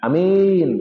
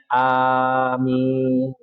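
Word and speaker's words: آمين: Dan ingat Bapak Ibu jemaah sekalian, bacaannya itu adalah panjang. A-nya panjang, minnya panjang bukan amin gitu ya. Atau amin. Kalau amin amankan ya Allah. Atau berimanlah bisa. Amin. Berimanlah. E maka bacanya amin. Dibaca panjang dua-duanya.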